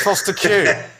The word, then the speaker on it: Fostekew: It's Foster Q.